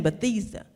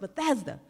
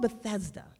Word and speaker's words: Bethesda: the Bethesda, Maryland area, and she kept saying Bethesda. And I said, man, she keeps saying Bethesda. It's pronounced Bethesda. So I walked up to her and I said, it's called Bethesda.